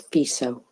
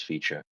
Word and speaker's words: Fico: Okay, but it's FISO, apparently. Is it FISO? I thought it was Fico. No, the C is Anyway. pronounced as S.